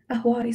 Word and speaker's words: Ahwari: Ahwari, so it's spelled A-H-W-A-R-I.